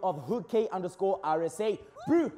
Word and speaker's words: Hookay: Oh, like Hookay.